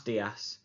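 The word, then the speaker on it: días: Buenos dias, which means good morning. Now you'll notice on the word dias there is a little accent, which means that we stress that particular letter. So buenos dias.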